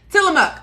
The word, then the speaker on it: Tillamook: with tillamook you guys i have been saying it wrong for a very long time till i'm up oh let me go